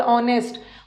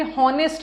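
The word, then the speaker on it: honest: Honourable, ऑनेस्ट, ऑनेस्ट में भी हॉनेस्ट नहीं होता, एच साइलेंट है, ऑनेस्ट, ऑनरेबल, यही सब है, यही सब।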